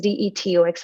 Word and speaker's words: Dtocs: that spelling is actually different that spelling is d-e-t-o-x which is for your information and my company is called detox and it's spelled as d-t-o-c-s so this is a different